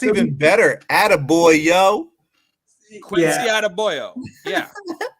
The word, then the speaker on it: Adebayo: That's how I would say. Yeah. Now, I would wish I could see a chicka over the E and pronounce those a little differently, but now, I'd go Adebayo.